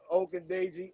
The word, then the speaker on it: Ogundeji: Ogundeji, that's what I call him. Ogundeji, there we go. Yeah, that's it. Yeah, Ogundeji, I think he can definitely benefit from this too.